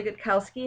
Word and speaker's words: Gutkowski: the same about it my name is good Kowski if you have any other questions you can